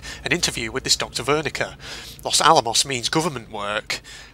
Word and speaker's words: Wernicke: So it's pronounced Wernicke. Okay, I've been pronouncing it wrong. It's Wernicke.